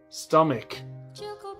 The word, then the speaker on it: stomach: English's stupid spelling stomach stomach I know that ch is usually like chicken but in this word it's a stomach Buukka kau hari dalam